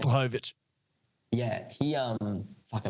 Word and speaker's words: Blachowicz: Blachowicz. Yeah, he fuck, I butchered that.